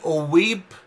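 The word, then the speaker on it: ⲟⲩⲏⲃ: O weeb, o epsilon eta vita means a priest. Here we pronounce it like B since it's at the end of the word.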